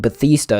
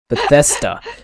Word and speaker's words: Bethesda: right um well if you believe microsoft buying bathista isn't all about exclusivity is what bethesda bethesda jesus christ i'm sorry i pronounced it wrong i am sorry i pronounced